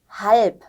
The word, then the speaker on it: halb: Bus, halb. 네, Bus, halb. 발음이 다르죠? B하고 P였습니다.